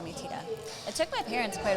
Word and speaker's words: tita: out the pronunciation because they wanted to say it like it's spelled t-i-t-a so they kept giving it like a short i sound the if titta and that's not that's not it at all even